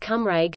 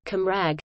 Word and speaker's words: Cymraeg: The native term for the language is Cymraeg, North, Central Wales pronunciation, Cymraeg, South Wales pronunciation, Cymra, G.